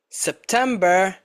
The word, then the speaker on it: September: Which five months are stressed on the second syllable? July, September, October, November and December.